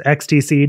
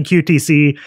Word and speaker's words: QTC: And hopefully, I don't mispronounce his name like I did last week as XTC. Not sure why I did that, but it's definitely QTC, and he makes amazing boxes.